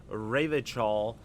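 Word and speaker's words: Revachol: He pronounces Rivachol with a hard K.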